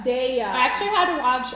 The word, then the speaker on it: Daiya: It's Daiya. Daiya.